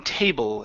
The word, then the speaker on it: table: And your last one is the L in table. Instead of saying table with an oo sound, it's bring your tongue to the front of your mouth.